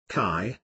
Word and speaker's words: qi: Qi, pronounced qi, or life energy, flows through these meridians and energy points.